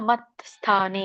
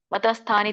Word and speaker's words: ಮತ್ಸ್ಥಾನಿ: ಕೃಷ್ಣ ಇದರ ಉಚ್ಚಾರಣೆ ನಚ ಮತ್ಸ್ಥಾನಿ ಇಲ್ಲಿ ಕೂಡ ವ್ಯಂಜನ ಇದೆ ಮಸ್ಥಾನಿ ಕೂಡಿ ಹೇಳಬೇಕು ಮತ ಮತಸ್ಥಾನಿ ತಪ್ಪು ಮತ್ಸ್ಥಾನಿ ಕೂಡಿ ಹೇಳಬೇಕು ಮತ್ಸ್ಥಾನಿ ಭೂತಾನಿ ಪಶಮೇ ಯೋಗಮೈಶ್ವರಂ